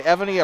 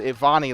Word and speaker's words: Evony: By the way, Evony approached us before the agame today. Corrected us on our pronunciation. It is Evony. We said Ivani last night. It is Evony Stroyer. She said the last name